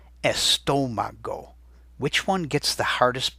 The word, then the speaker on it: estómago: And you can hear where the accent's hitting because it's the part of the word with the most stress, almost like it's a drum beat. Estómago.